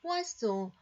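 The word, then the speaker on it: poisson: 밑이 거어진 철자의 발음이 이렇게 발음이 되어집니다. 포아송 물고기 다일 아브일이 4월이기 때문에 4월의 물고기 지격하면 그런 의미인데요.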